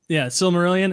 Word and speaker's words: Silmarillion: Did I pronounce it correctly? I think I did. Silmarillion. Close. Yeah, Silmarillion.